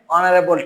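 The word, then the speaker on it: honourable: তারপরে দেখো ওয়ার্ডের শুরুতে এইচ থেকেও এর উচ্চারণের সময় যদি এটা সাইলেন্ট থাকে বা উচ্চারিত না হয় তার আগে সাধারণত এন বসে, যেমন an hour, N honest man, এন এয়ার, এন অনারেবল teacher.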